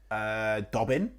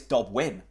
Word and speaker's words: Dobbin: Who have we just signed? Dobbin? Wrong. Who? Lewis Dobwin. Shut up. Dobwin, as in he's a winner.